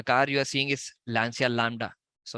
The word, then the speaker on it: Lancia: stagnated so the car you are seeing is Lancia Lambda so it's pronounced at launcher so it was a car by Italy Italian